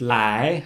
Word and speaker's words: 来: It's pronounced lai, like lai chi fan, come eat food, or ni guo lai, come here.